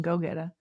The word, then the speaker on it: Gogeta: Uh, oh, by the way, Liv Liv is like, you got to pronounce it the same way. So, it's Gogeta.